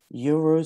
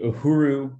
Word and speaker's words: Uhuru: It's the Uhuru Solidarity Movement. And Uhuru means freedom in Swahili.